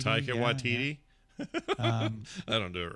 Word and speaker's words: Taika Waititi: Tiki Wakatiti, or however you say his name. That guy makes great movies. Taika Waititi. Taika Waititi.